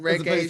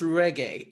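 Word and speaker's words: Regé-Jean: So it's pronounced reggae, not reggae. No, reggae.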